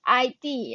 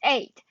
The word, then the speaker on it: id: elements known as eight it is not pronounced as id it is eight ego and the superego